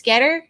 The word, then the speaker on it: Goetter: like at uh s getter that's g-o-e-t-t-e-r you don't pronounce the o for some reason uh um and yeah